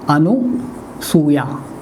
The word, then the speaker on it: अनसूया: गया, सस्वर हो गया, तो शब्द बनेगा अनसूया, अनसूया, ये शब्द शुद्ध है, ये नहीं। हम ध्यान रखें, जब भी कभी लिखें या बच्चों के सामने बोलें, हमारे उच्चारण में अनुसूया आता है, बच्चे उसे सुनते हैं और लिख लेते हैं गलत। अनसूया, ऐसा ही बोलें।